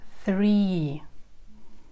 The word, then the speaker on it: three: В этом слове задействован звук «th». Это не простой звук «с», который произносится не на зубах, а язычок слегка выглядывает, и такой звук получается. Th. Th. Three. Three.